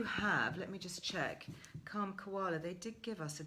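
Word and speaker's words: Kalm Koala: So that's Calm Koala, which is spelled K-A-L-M. Calm Koala, as in K for calm and K for koala, all one word.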